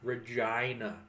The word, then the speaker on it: Regina: then I was like nope it's like vagina but with an R well I'm not how